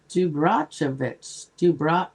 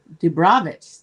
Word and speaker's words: Dubravich: Dubrachovich. Oh, no, I'm saying it wrong. Dubravich, 31.